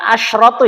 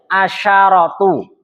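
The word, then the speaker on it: عشرة: Ingat bukan asratu ya. Asyaratu itu kalau sendirian dibacanya asyaro kalau dia bersambung dengan satuan asro ya saya punya 11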